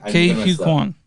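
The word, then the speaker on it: Ke Huy Quan: Ke-Huy Quan.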